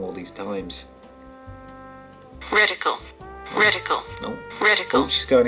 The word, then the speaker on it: reticle: Are we gonna settle this rectical thing quickly? I've got a video here. I may have been saying it wrong all these times. Reticle.